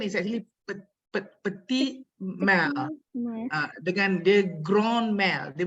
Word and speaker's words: petit mal: Okay, again the pronunciation is actually petit mal.